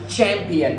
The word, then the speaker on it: champion: Champion, đó chính là nhà vô địch, ấn nhấn vô âm tiết thứ nhất.